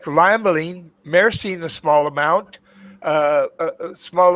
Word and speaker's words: limonene: Bothers me when I hear you say again. limonene because there's no such thing as limonene. Sounds like a kid's nursery rhyme. It's limonene.